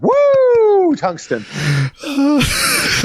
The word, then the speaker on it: Woo Tungsten: And you have to say it like that every time. Woo Tungsten.